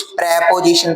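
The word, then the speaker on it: preposition: कुछ लोग इसको प्रीपजीशन पढ़ते हैं। कुछ प्रपजीशन पढ़ते हैं। इसका शुद्ध साउंड सुनना। प्राप ओ पोजीशन। प्रपजीशन। ठीक है?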